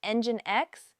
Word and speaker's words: Nginx: Nginx, pronounced Nginx, is one of the most popular web servers in the world.